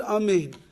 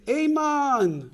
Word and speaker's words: Amein: And that is that if you mispronounce one of the vowels of the word Amein, so I don't know, you'll say Amen or something like that, it will not be the way that Amein is supposed to be said.